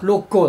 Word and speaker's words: 六甲: 地下六甲じゃなかったでしたけ六甲って読むんだこれで確か全然